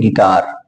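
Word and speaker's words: guitar: Wavell आता है तो यू हमारा साइलेंट होता है, तो यू साइलेंट हो गया, बचा क्या? जी आई टी ए आर, इसलिए इसको पढ़ते हैं गिटार।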